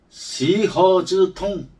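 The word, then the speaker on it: 西河之痛: 이 서하지통이란 중국어 발음으로 하면 시허즈통, 서하의 고통, 서하의 아픔이라는 뜻인데, 이 뜻은 다른 말로 하면 아들을 잃은 슬픔을 말하는 사자성어입니다.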